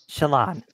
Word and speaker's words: Shallan: Shallan. That's how Shallan. that's how the audiobooks pronounce it.